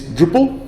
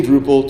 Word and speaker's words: Drupal: The way you say drop is Drupal, and then they started spelling it Drupal. So it's a bad pronunciation of a misspelling of a typo, is the way the name got its start.